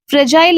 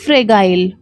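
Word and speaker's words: fragile: बस आपको इतना याद रखना है कि इसमें जो जी है उसको हिंदी में प्रोनाउंस करते हैं ज ना कि ग। तो इसका करेक्ट प्रोनाउंसिएशन होता है फ्रेजाइल ना कि फ्रेगाइल।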